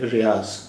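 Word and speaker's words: ریاض: में आपने देखा होगा इसे रियाद लिखते हैं और रियाद ही इसका अरबी के हिसाब से सही उच्चारण तो रियाद ही है लेकिन उर्दू में जोक इस आखरी अक्षर का आखिरी अक्षर को जाद कहते हैं इसलिए हर जगह इसका उच्चारण ज जैसा होता है इसलिए यहां भी ज जैसा उच्चारण है रियाज अगर ये हिंदी में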